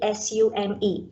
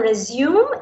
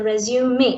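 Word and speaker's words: résumé: So many of us, we first of all mispronounce the word resume, right? So it's not a resume, it is a resume. It's a French word, it's a resume.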